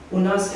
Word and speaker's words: Unas: Already this is Unas or Unis, as they pronounce it.